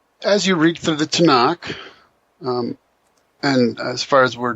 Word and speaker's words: Tanakh: And Tanakh is an acrostic referring to the three traditional divisions of the Old Testament, right? Torah, Nevi'im, and Ketubim. And so Tanakh ends up just being pronounced as Tanakh.